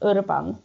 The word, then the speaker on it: Urban: Urban like in Iber, but Urban.